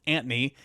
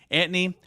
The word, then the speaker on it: Antoni: over there it's Anthony it's actually pronounced Anthony Anthony okamuro he becomes Tennessee's